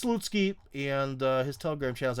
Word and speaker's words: Slutsky: It's spelled like Slutsky, but it's Slutsky, and his Telegram channel is actually fairly successful.